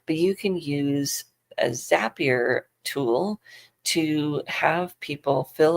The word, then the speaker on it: Zapier: One of them that I've been using for a while is called Zapier or Zapier. It probably depends on who you talk to and how they pronounce it.